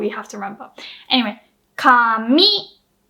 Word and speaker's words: 紙: Anyway, 紙 low high, that's paper or hair.